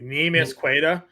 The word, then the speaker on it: Neemias Queta: I don't even know how to pronounce the name correctly. Neemias Queta.